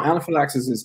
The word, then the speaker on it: anaphylaxis: find the concept of anaphylaxis I might be pronouncing that wrong no no anaphylaxis is correct you know it's anaphylactical